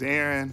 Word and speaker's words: Aron: Hi, my name is Aaron, spelled with 1 A. Sounds like Aaron, and they get a little chuckle from that.